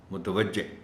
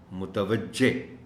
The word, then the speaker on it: متوجہ: ادائی کے حوالے سے، چونکہ اس میں خاص طور پر جو چیز مشکل پیدا کر سکتی ہے وہ ہے تے کے اوپر زبر۔ عام طور پر اس لفظ کو جس طرح بولا جاتا ہے وہ تے زبر کے ساتھ نہیں بولی جاتی۔ عام طور پر لوگ اس کو کہتے ہیں متوجہ، متوجہ یعنی تے کے اوپر جزم کا استعمال کر جاتے ہیں. صحیح لفظ ہے متوجہ، متوجہ.